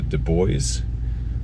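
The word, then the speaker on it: Dubois: a town of uh du bois uh that's how they pronounce it and kind of get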